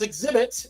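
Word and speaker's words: Xzibit: Alvin Nathaniel Joyner, a.k.a. Exhibit, pronounced Exhibit, is an American rapper, actor, and broadcaster.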